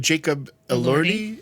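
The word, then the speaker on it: Jacob Elordi: And that other guy, Jason, Jacob Allerti is how you say his name.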